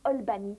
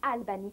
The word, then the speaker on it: Albany: Les gens là-bas prononcent ça Albany, pas Albany.